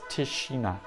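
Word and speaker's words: Tišina: Is that S or the hat? I think that's a sh, isn't it? So it's Tishina.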